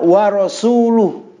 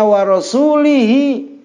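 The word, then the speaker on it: وَرَسُولُهُ: Contoh kemarin umpamanya, ya, Annallah bari'um minal musyrikina wa rasuluh. Dibaca wa rasuluh apa wa rasulih? Lalu dibacanya wa rasulihi, maka Allah terbebas dari rasulnya.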